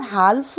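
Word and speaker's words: half: एल पुढचा अक्षर बघूयात एच एल एफ म्हणजे म्हणजे हाफ आपण हाफ नाही बोलत एच ए एल एफ हाफ म्हणजे अर्धा सायलेंट लेटर बरोबर एल नेक्स्ट आहे के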